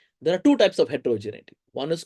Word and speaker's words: heterogeneity: Uh so one one thing a a common pronunciation error that many people do is they call this heterogenicity. There's no C in this.